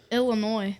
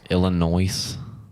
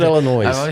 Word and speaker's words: Illinois: Illinois. Why did you say it with the S?